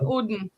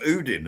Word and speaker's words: Odin: It's another another bit of Odin. I think it was actually pronounced Oudin as well, actually.